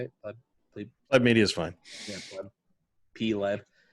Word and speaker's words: Pleb Media: Pleb Media is fine. Yeah, Pleb. P-Leb. I'm not that picky about it. Everybody pronounces it different and always worries that I get offended.